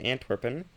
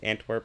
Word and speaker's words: Antwerp: Actually, I should be pronouncing this Antworp, but you know, we don't worry about such details.